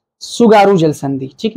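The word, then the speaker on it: 津軽: है सुगारू, ठीक है, ये ऐसे लिखा जाता है, ठीक है, आगे टी रहता है लेकिन टी साइलेंट होता है, जैसे सुनामी में होता है ना, तो वैसे ही जापान में टी को हमेशा साइलेंट करते हैं।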